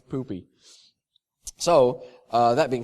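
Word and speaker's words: Pupy: did ask and yes apparently it's pronounced poopy all right it's poopy so uh that being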